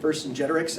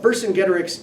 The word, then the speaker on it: Vercingetorix: I've always pronounced it Vercingetorix, and so I might accidentally default to that. But Vercingetorix is a pretty epic Gallic hero and quite a military commander.